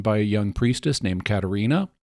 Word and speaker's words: Katarina: a young Priestess named Katarina although they pronounce it Katrina sometimes um Katrina Katarina believes